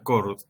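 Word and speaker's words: Chord: Donde por ahí el más conocido, el que más se popularizó es el primero que aparece en esta lista, que se pronuncia Cord, ¿no?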